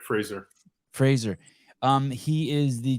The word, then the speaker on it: Fraser: I am here with Brett Fraser am I pronouncing your last name right that's correct Fraser Fraser um he is the chief athlete officer